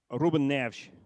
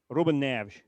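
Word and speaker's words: Rúben Neves: Well, remember we spoke earlier about the the es in Portuguese being a different animal at the end of a a name. So, um Reuben Nev Ruben Nev.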